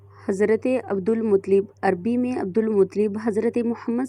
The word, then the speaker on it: عبدالمطلب: ہاشم یا شیبۃ الحمد۔ ان کو عبدالمطلب درست تلفظ عبدالمطلب اس لیے کہا جاتا